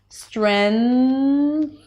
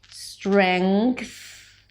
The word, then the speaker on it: strength: Strength and strength. Choose whatever works for you. One more thing, you may hear people pronouncing the STR consonant cluster with a shh sound.